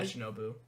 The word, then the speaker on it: Shinobu: Like, the Shinobu fight, that's how you pronounce it? Yeah, Shinobu.